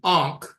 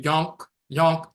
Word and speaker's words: ankh: The pronunciation instead of ankh, it became yonk by Europeans, and yonk became yunek